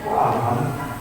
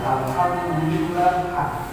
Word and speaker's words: Alhamdulillah: cuma bacanya ee Alhamdulillah alham alham kok alham harusnya Alhamdulillah kita yang bisa membedakan Al